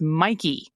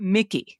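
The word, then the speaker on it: Mikie: Chitterelli and the Democrat the candidates's first name is pronounced Mikey with a long I sound. Um not Mickey like the mouse.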